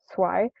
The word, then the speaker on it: Swai: My name is Swai, pronounced Swai. It's a Vietnamese name.